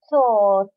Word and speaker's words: thought: the long o thought what is the past of think i think he is silent h and miss h and g is silent thank you he thought